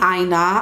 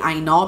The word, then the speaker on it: Aina: I keep calling her Jackie Aina because I feel like that's the actual pronunciation of her surname, not Aina, or the way you guys pronounce it is Jackie Aina. If it's a proper Yoruba name, I know that that's how it's pronounced.